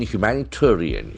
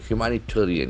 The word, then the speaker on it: humanitarian: Kills 40 in humanitarian. Humanitarian is a long word. H-U-M-A-N-I-T-A-R-I-A-N. So that is a very interesting adjective. Come noun. Humanitarian. Humanitarian. Humanitarian. The accent falls on third syllable.